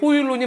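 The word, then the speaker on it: Højlund: 예를 들어서 호일룬 선수 얘기가 나오는데 네. 라스문 호일룬 아마 발음이 호일룬이 맞을 거예요.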